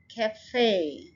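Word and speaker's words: café: कैफे में दो syllables हैं, कै एंड फे। आपने ये जो फर्स्ट सिलेबल है इसको बहुत जल्दी कहना है, कै फे। फे के ऊपर आपने स्ट्रेस करना है, कैफे नहीं, जैसे हम कहते थे कैफे, नो, कैफे, कैफे, फे।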